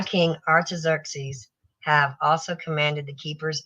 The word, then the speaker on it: Artaxerxes: Artaxerxes.